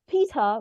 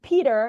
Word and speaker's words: Peter: is the name uh which is pronounced in British as Peta but if you uh try American English that would be Peter and this is a